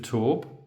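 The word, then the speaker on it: Tourbes: we are in the village of torb which is spelled t u r b s we are one of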